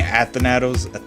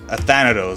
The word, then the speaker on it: Athanatos: You know, a level I do have to beat is freaking Athanatos. No, Athanatos. That's how you say it.